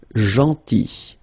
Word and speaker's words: gentil: So remember this final L is not pronounced. Gentil, gentil, and it's nice or kind.